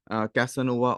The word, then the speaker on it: Casanova: is the Spanish gentleman so this is how you spell it because he's from Spain or the Spanish origion we'd refer to him as kasanova or Jose kasanova there are three different